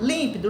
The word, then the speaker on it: límpido: Você vai falar límpido, límpido. Ó, é o lim. É onde nós paramos. Nós falamos com maior intensidade, é a sílaba tônica, tá?